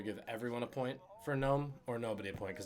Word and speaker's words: Nome: actually ends in a very small place called gnome alaska n-o-m-e most people spell it g-n-o-m-e see what i did there anyway